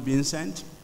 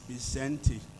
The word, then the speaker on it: Vicente: Most of us will call him Vincent, but research tells me that, and I actually did ask him this morning, the correct pronunciation of his first name. It is Vicente Fox, former president of Mexico.